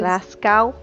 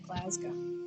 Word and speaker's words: Glasgow: If you think of it as Glascow, there you go. Uh, you just think on it like it's um glass and then go at the same time.